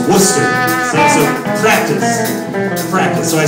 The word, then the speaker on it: Worcester: and I just said I said war Chester and one of the hobos said no son no don't don't say it like that cuz someone will stick you with a so it's Worcester so practice practice so